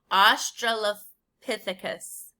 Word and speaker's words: Australopithecus: we pronounce this word let's sound it out it's ah straw la pithicus it's a lot of syllables australopithecus and even adults get tripped up on it sometimes a 30 i'm sorry